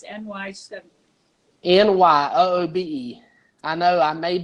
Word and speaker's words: Nyoobe: I was going to call it Newbie, and then how you pronounce Newbie is Nyoobe. So I called it Nyoobe, and guess what?